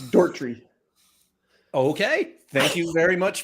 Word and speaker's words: Doherty: Eric, would you guys pronounce this Doherty or Doherty? It's Dortry.